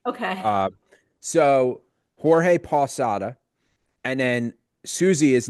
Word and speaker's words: Jorge: Right, because I was going to say the way it's spelled, I thought it was Jorge. And hearing you just say George blew my mind. Yeah, we say conversationally, we say George. Okay. So Jorge Posada.